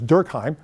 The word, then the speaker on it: Durkheim: tricky because you can I'm going to anglicize it for our purposes as durkheim but I think his